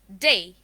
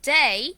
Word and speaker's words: day: pronounce it as a when we pronounce the word day it becomes d but actually the pronunciation would be day and the alphabet's pronunciation